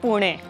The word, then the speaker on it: Pune: She actually is the person who taught me the true pronunciation of Pune.